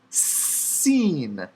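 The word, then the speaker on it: שׂ: of weight shekel shekel dot written on the left seen dot written on the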